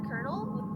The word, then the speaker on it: colonel: Man, Colonel, the word colonel, you know how it's spelled with an L because of the French language.